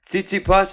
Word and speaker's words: Tsitsipas: Tsitsipas, is that how you pronounce it?